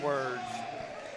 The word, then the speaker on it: Words: A 3 there by Kingston Words. Kingston Words, let's see. That's only his 5th points of the night, 2nd bucket. They spell it just like it sounds, W-O-R-D-S.